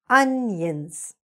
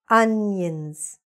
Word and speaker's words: onions: Onions. Second part, again, we can see that contraction, right? Yins. Onions.